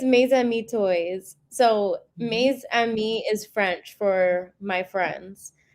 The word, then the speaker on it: Mes Amis: So, Maze Ami is French for my friends.